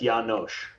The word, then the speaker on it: Janosch: It's Janosch, with a sh at the end.